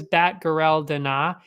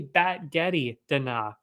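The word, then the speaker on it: Batgerel Danaa: one wrong too because i thought it was bat guerrell dinah it's actually batgetty dana batgetty who knew like spaghetti but with bats i guess the fight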